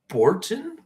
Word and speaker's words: Bottin: designer William Sandell, and special effects artist Rob Bottin.